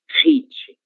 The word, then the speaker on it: hit: E é por isso que esse H será pronunciado da mesma forma do inglês, hit, certo?